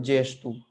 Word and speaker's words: gesto: तो जैसे GESTO एक शब्द है, उसको पढ़ते हैं जेस्टू, जेस्चर, है ना।